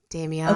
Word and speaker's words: Damiana: Damiana.